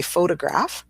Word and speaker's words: photograph: So we say photograph. So we've got the schwa right in the middle there with that middle O. But then when we have photographer, we move that schwa to the first O.